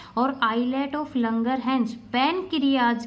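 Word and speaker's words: Langerhans: इन sales के अलावा भी एक सेल्स का ग्रुप रहता है which is known as islet of लंगरहैंस। एस is silent.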